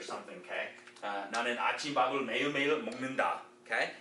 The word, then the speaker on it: 먹는다: 먹는다. Now the pronunciation of this N is going to cause this G to sound like an NG.